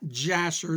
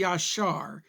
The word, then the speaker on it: yashar: well first of all in hebrew it's not jasher there's no ju sound in hebrew it would be yashar it's one of these